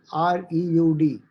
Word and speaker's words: Freud: Freud. They spell it as Freud.